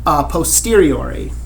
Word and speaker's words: a posteriori: But you should hear the word posterior in there, right? Like the posterior, something that is following after something else, right?